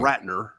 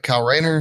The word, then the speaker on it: Kyle Rayner: white lantern Tom yeah cow rights not Ratner anyway kyle rayner who's a clown anyway